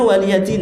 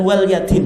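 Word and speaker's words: وَلِيَ دِينِ: Itu bacanya waliyadin ya, bukan walyadin ya. Karena banyak orang baca apa? Walyadin itu.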